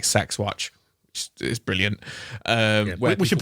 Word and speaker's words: CeX: like it's called like sexat is brilliant um we should point out that's how you're meant to officially pronounce c ex sex no one calls you that in the UK where people point out